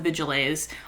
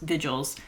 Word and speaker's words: Vigilés: It's like right after she kills the Vigilés on the train, which, by the way, I just learned that's how you pronounce those. I thought it was just Vigils. It's Vigilés, the more you know.